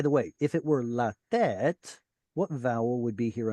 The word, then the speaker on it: לתת: We can't put a stress syllable next to a stress syllable. So they moved it over to here so that it flows better, like William mentioned.